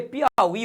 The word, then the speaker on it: Piauí: Por exemplo, olha aqui, Piauí. Tá? Vou botar aqui, Piauí. Piauí não tem nada a ver com esse rolo não, hein, meu aluno? Sabe por quê? Porque Piauí, o I, está na posição oxítona.